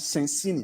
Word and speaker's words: Sensini: Just pronounce Sensini. Okay, Sensini.